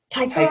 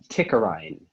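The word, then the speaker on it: tichorhine: Yes, one. Tigerine, also tickerine.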